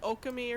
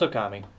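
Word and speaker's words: Ōkami: not okami no it's okami okay i mean who knows what it's actually pronounced in actual japanese but the the general accepted way of saying it is okami okay oh gummy so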